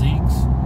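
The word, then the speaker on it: Ziex: It's kind of funny because they are Falcon, pronounced Zeeks, Z950, I think they are.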